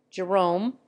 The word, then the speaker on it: Jerome: Ralph is pronounced Rafe Jerome is accented on the first syllable in America it is always accented on the second footnote the Irish presents